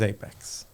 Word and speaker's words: APX: It's spelled APX Platform. But the nice way to say it is Apex.